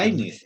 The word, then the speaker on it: Leibniz: Leibniz se Ah, pronuncia. Leibniz.